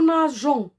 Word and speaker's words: nageons: Sinon, si on ne met pas de E, on va prononcer G, comme on a vu dans la leçon de la lettre G. Si on trouve, ou bien G suivi d'un O, se prononce go. C'est pourquoi on met la lettre E. On met un E après la lettre G. Et on lit nous nageons.